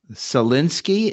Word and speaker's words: Salinsky: very special guest tonight his name is Tom salinski is that the correct pronunciation Tom thank you perfectly correct and he